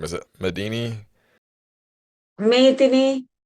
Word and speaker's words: Medini: Medini is the correct way to pronounce it, but yeah, everyone says Medini, so I've accepted that as well. It's kind of difficult to pronounce the Sinhalese way, so that's fine.